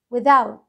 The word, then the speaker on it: without: كاننا بننطق سهم العربي طريقه النطق وذوت وذاوت التي اتش اتنطقت ده كاننا بننطق ده بالعربي طريقه النطق والرعب الكلمه